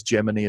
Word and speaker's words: Gemini: go from the Germany I was a Gemini in school but I guess gemiini is apparently the way this movie wants to say it right to the Apollo